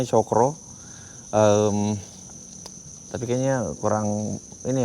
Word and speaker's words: Cakra: Ee mungkin teman-teman ada yang pernah tahu tentang atau ya Hotel Cakra tulisannya tapi bacanya Cokro.